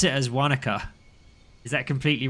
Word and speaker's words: Wanaka: Christchurch, sounds 225, safely on the ground at Wanaka.